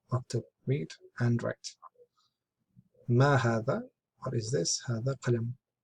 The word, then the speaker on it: هذا: Note, هذا is pronounced هذا, but it is written without the first alif. It's not alif here, but here. This is how it's read, but this is how it's written.